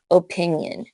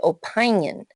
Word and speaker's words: opinion: hurting my feelings opinion now if we did it like rule 8 suggested it would say opion which doesn't sound familiar so we split the syllable after the n and make the first I short loyal Husker fans are